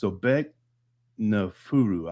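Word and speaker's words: Sobekneferu: She is a female, and her name is Sobek Nafuru, I believe is how you say it.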